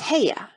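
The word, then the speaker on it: Haigha: happy his name is heya he pronounced it so as to rhyme with mayor I love my love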